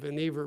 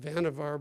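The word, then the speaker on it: Vannevar: his a man named vver Bush some people like to pronounce that vavar bush but the correct pronunciation or at least Mr uh Dr uh Bush's pronunciation was vver uh vver Bush uh was uh a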